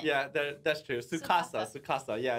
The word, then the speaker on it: Tsukasa: Tsukasa! It starts with a T. Yeah, it does. The T is silent. Yeah, that's true. Tsukasa.